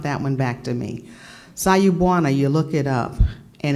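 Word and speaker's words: Sawubona: Bernice will probably know it, I have to spell it to phonetically say it correctly. S-A-W-U-B, as in boy, O-N-A. Am I saying it right? Sayubwana? Sayubwana. It's Zulu.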